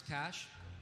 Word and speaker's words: Cache: your Matt you know I thought people would mispronounce cash but maybe not in that way eh yeah gross he's getting passionate cage does slip out for sure cash is the one I was expecting well you've helped me